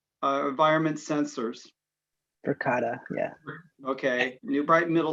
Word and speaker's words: Verkada: the purchase installation of Verkada that's how you pronounce it, right? Environment sensors. Verkada, yeah.